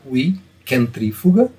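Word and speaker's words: vis centrifuga: Então, logo no índice, no sumário do livro, nós temos a apresentação do termo centrífuga, em latim, a pronúncia seria vi centrífuga, e no texto ele faz referência a essa expressão, aqui por causa das declinações latinas, vi centrífuga.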